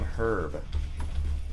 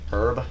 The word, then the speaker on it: herb: you use a green herb herb no it's herb dude not herb yeah it's herb that's how you pronounce that why is so much